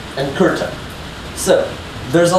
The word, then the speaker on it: kurta: So, Duri, Jodhpur, and Kurta both have an sound, and it's just spelled with a UR. So it's not like an ER or an IR, it's just UR. So, Kurta, right? K, not a C. UR. And then a ta.